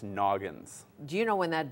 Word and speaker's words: Nognz: that's how it's spelled that's how it's spelled and it's pronounced Noggin do you know when